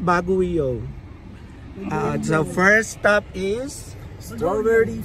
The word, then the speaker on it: Baguio: bago baguo mag-iikot kami sa bago bagoo It's pronounced bagoo so first stop is strawberry farm si Mother